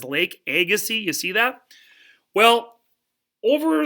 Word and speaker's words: Agassiz: is who's Lewis agassi's well as name you pronounce his last name Agassiz say Agassiz and you may have heard that word Agassiz